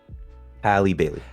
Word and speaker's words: Halle Bailey: Halle Bailey.